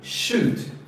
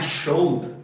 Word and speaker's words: should: É o should. O should não é showed, tá? Showed vem de shoulders, tá? Que daí é ombro, isso aqui é should.